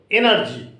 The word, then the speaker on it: energy: which ends with Y the rule is that when the word ends with y the accent or the stress must be given on the first syllable energy e n e r g y you see there are three syllables it is a tri syllabic word but as there is y at the end you must give the stress on E not any other energy there similarly finally find